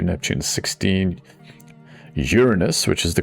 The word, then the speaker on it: Uranus: Uranus, which is the correct pronunciation, has 28.